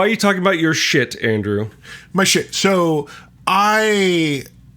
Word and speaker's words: Schiit: It's pronounced shit.